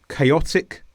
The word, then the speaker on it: chaotic: Chaotic, chaotically. So remember that special combination C-H-A-O, the sound changes completely to K.